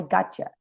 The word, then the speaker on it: gotcha: But it's pronounced, I got pero you, se pronuncia I gotcha.